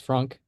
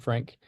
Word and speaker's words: Frank: just heard Sean say my name is Frank so that's actually the right pronunciation it's not Frank um despite the way it's spelled um I am Dutch